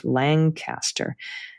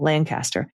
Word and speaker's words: Lancaster: of Lancaster, pronounced with Langcaster. Not too much G and the emphasis on the first syllable, Lancaster.